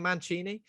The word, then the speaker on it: Mancini: who directs this manchester are we saying manchini because that's how a football manager's surname is pronounced and especially man's mankini